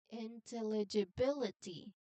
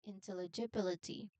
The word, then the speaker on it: intelligibility: word so please um listen carefully again intelligibility how How many sounds are you listening? There are how many syllables? In there are seven syllables in total. Again the word is intelligibility.